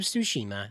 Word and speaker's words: Tsushima: Japanese shrine featured in Ghost of Tsushima.